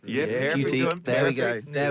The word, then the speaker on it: Futique: Futique? Yeah, Futique.